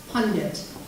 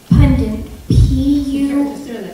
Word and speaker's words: pundit: information and convince listeners pundit pendant make sure you're pronouncing it correctly pundit pundit p-u-n pundit